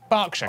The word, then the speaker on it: Berkshire: silent norwich beric southwark er is pronounced r berkshire clark and will hertfordshire